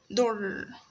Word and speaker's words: در: در means you can find in pronouncing that word that we stress on the last letter, which is re. در. در, as you can feel that you're pronouncing the letter twice, okay?